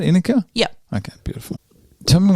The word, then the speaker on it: Inicka: Inicka?